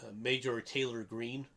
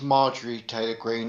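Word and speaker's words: Marjorie Taylor Greene: pronounce her name right to let you know it's marjorie taylor green or if you really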